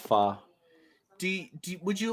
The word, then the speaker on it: Hua: the eldest ahua yeah that is actually pronounced fa do would you like